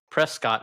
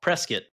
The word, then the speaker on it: Prescott: I like to go to Payson or Prescott, Arizona. But if you're from Arizona, you don't call it Prescott, and that's one of the ways we know you're an outsider. You call it Prescott if you're from Arizona.